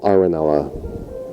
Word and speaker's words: Arenella: If you just Google my name, Arenella.